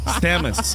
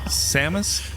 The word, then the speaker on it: Samus: and I'm just like I can remember Sheamus even though I know it's seus verus Sean Sean Samus Samus it's salmon God damn it what is